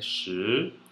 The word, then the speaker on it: 十: Porém, o 10 é shi, S-H-I no segundo tom.